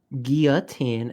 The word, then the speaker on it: guillotine: The French pronounced it like that. True. Guillotine is the correct French pronunciation, named after the doctor who invented it.